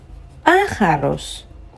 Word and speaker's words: pájaros: So, Tomás también mira a los pájaros. We can see an accent on the A. The first A, so that goes up.